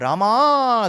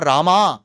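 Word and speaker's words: Rāma: wrong because generally so that is wrong the north Indian pronunciation of Ram gosh that is also wrong so it's neither Ram nor Rama it is Rama it is neither goind nor goinda it is goinda so I had to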